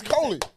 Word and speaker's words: Coley: It's Coley. I said, "Why keep saying coolie?"